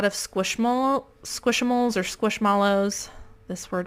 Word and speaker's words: Squishmallows: squish mole squishamales or squishmallows this word right here i want to pronounce it squish mallow because that's how it's spelled but everyone says squishamoles do extremely well in